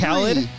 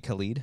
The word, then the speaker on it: Khaled: Because I was saying it DJ wrong Khaled. The whole time. Did you call him DJ Khalid?